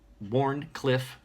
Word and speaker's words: Wharncliffe: So I'm I see the values of having this knife, a Wharncliffe knife, Wharncliffe, yeah, there we go, I said it right,